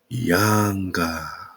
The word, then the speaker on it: Ynga: You put an A, you put an A between the Y and the N, and you got, say it with me, Yanga.